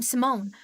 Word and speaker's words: Simone: I know we haven't talked much, but I'm Simone. Yes, that's how you pronounce the name.